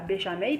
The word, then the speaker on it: béchamel: béarn et je suis normalement ça se prononce comme ça béchamel parce que il détecte